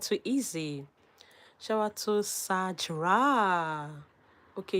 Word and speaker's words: Sajra: Shout out to Sajra. Okay, it is pronounced like Saj.